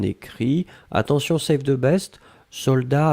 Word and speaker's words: soldats: attention sec de best soldats avec un thé final on ne prononce pas le thé mais logiquement il devrait être là d'accord donc soldats s